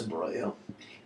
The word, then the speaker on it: imbroglio: with her next with this imbroglio it's actually pronounced imbroglio it comes from the italian hence my not